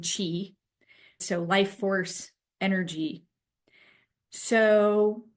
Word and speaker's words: qi: This is also called chi or prana, and sometimes it's spelled chi, sometimes it's pronounced or spelled qi, but it's all the same thing, chi.